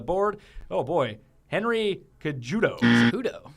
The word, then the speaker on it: Cejudo: player on the board oh boy Henry Kudo cejudo cejudo so this one's pronounced with an H the other one's not